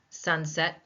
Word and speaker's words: sunset: Sunset, 2 syllables, but more than that, it is a compound noun. So what rule do we follow? That's right. The first noun in a compound noun will get stressed.